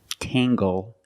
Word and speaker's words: tangle: Or jungle, tangle, and angle. These are pronounced with the hard G sound.